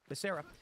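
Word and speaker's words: Becerra: scientist not a doctor secretary is uh Xavier barera Basera ises that he pronounce it Basera he is a lawyer former AG of California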